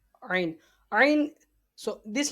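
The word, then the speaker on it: ع: Ain is pronounced from the middle part of throat.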